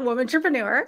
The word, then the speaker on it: WOMANtrepreneur: It is called WOMANtrepreneur.